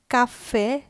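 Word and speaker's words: caffè: একটা ব্যাপার এখানে খেয়াল করবেন, কাফে শেষের ই এবং তে এটার শেষের ইর উপর একটা দাগ আছে। যখন এই দাগটা থাকবে তখন ওই শব্দের উচ্চারণটা একটু জোর দিয়ে করতে হবে, যেমন কাফে তে।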